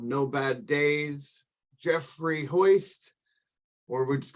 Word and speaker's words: Holst: And I said, well, it's not Hoist, it's Holst. And then he says, oh, so the I is silent. And I'm like, no, there's no I in my name, it's an L. And then I'm like, it's like a holster, you hold a gun like that.